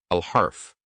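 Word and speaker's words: الحرف: We pronounce here the letter al-harf. Al is pronounced when it's add to al-han. Al-harf.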